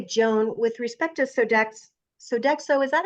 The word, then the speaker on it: Sodexo: by the way Joan with respect to sodex Sodexo is that how you say it yes okay